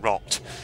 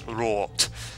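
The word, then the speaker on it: Roth: Apparently I was saying Rot, which of course is the wrong pronunciation. It's Rort.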